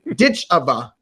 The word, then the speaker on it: Ditcheva: culmination their tournament and Dakota ditch OFA ditch ditch OFA there you go saying it correctly better get